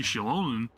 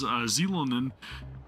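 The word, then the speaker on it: Xilonen: gotta go and see Shilonen, who I pronounce as Zilonen in my reaction.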